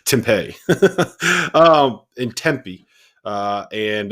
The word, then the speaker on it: Tempe: tempe that's that's how that's how the locals pronounce it jeff i don't know i don't know if you've ever i don't know if you've ever been to arizona but they pronounce it tempeh um in tempe uh